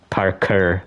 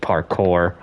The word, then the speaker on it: parkour: the name Parker, but it's Park Parker. Parker, that's how you say it. It's the French way.